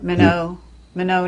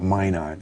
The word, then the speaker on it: Minot: but that was really it's minot yeah minnow mono north dakota that's the french pronunciation yeah amer we americans call it mine on here i see okay